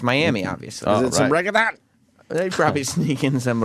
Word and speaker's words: reggaeton: Is it some reggaeton? They probably sneak in some reggaeton. Reggaeton? I don't know, I think it's reggaeton. Reggaeton. There you go. No, you don't say it like that. Reggaeton.